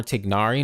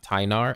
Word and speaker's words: Tignari: it's more tignari oh it's actually more tignari not tainar okay good thank you